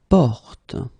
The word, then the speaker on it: porte: Porte. So you get this O, and it's actually quite open in that case. It's O, porte.